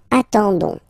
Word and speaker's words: attendons: nous, so O-N-S, okay, you don't pronounce the S, so you get only this on sound, okay, attendons, nous attendons, so we'll make the link between the two, la liaison, nous attendons, vous form, same thing,